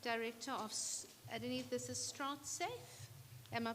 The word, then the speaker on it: Stratsafe: Nona nona sorry gana director of Iene this is strat safe am I pronouncing it correctly strat safe okay welcome Good afternoon everyone.